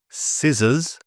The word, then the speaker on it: scissors: But before an I and an E, the C is generally silent. And here are some examples: scent, science, scissors, and scenario.